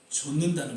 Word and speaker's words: 좇는: 제자의 삶의 마지막 단계, 예수님을 전적으로 따르고 좇는다는 것이죠. 이 발음을 잘해야 되는 것 같아요. 예수님을 쫓는 게 아니죠. 예수님을 쫓는 게 아니라 예수님을 좇는 것이죠.